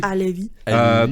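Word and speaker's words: Halévy: I'm going to say Halevi. Alevi.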